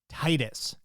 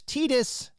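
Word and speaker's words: Tidus: #team Titus. Yes, that is the way you say his name. Anybody who says Tetus, meet me outside, back in front of the school.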